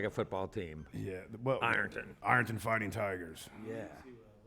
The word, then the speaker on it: Ironton: So it's pronounced Arnton? That's by the people who live across the, what, across the river on the other side. What do you guys, how do you pronounce it? We call it Arnton.